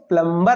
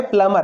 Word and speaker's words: plumber: उच्चारण प्लमर। ये बी पढ़ते नहीं है, प्लमर है नलसाज, नल सुधारने वाले को बोलते हैं प्लमर।